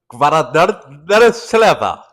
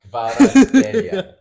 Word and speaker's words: Kvaratskhelia: Kvaratskhelia. Khalas. No, no. Say how it's pronounced. So say with me, okay? Kvicha, Kvicha, Kvara, Kvara, Scalia. Scalia. There you go. Kvicha, Kvicha, Kvara, Scalia. Kvaratskhelia.